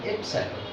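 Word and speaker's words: epsilon: এটা উচ্চারণ হলো এপসাইলন।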